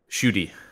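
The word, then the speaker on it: Ncuti: But it makes Shuey Gatwa the 15th Doctor, technically. Yes. Is that how you say his name? Shuti is how I've heard it pronounced.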